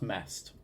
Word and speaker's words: MEST: Oh, it's pronounced as MEST, apparently.